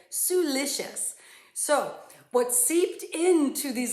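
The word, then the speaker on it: siliceous: how to pronounce it it's spelled s-i-l-i-c-e-o-u-s now when i looked at the word i went oh it must have something to do with silicon right has it kind of in the beginning i never thought it would be pronounced suelicious but i had i pressed a little button that i could hear it suelicious so what seeped into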